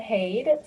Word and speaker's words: Haid: And Haid or Hade or however you want to pronounce that, I'll probably do it wrong. We appreciate you coming to share that with us. Great. Hi, everyone. Thank you. Haid. So you pronounced it perfectly.